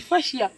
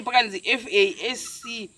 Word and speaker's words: fascia: And I thought we didn't the fascia. Aye. Who knows when the fisher say FASCIA? So not spelling here pronounce